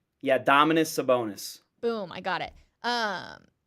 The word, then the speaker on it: Sabonis: the player's name because again I'm bad at pronunciations Dominus the bonus it's a bonus right yeah Dominus sabonis boom I got it um he essentially Stomps